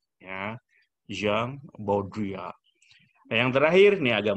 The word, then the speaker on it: Jean Baudrillard: Yang kedua juga orang Prancis, dibacanya Jean Baudrillard ya. Jean Baudrillard.